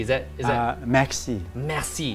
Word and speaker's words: merci: Merci. Is that Merci. merci? Must Yeah. have the throat also. Have the R, the slight gutter.